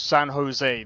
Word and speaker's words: San Jose: So, I I am guessing that um Sano Oh, it's San Jose. That's how you pronounce it.